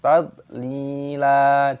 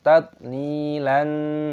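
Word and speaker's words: تذليلا: Sekarang, perhatikan tadlila, lamnya panjang, ada sukun ya, mab, panjangkan dua ketukan, dan di sini lam dibaca matai wa dan dibaca panjang, tadlila, jangan dibaca tadlilan.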